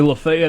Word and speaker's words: Lafayette: Apparently, Lafayette, Alabama is like Lafayette, Mississippi, pronounced that way. Everywhere else it's Lafayette or Lafayette.